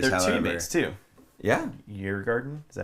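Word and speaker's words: Djurgården: yeah, Yeargarden? Is that how you say it? Yeargarden.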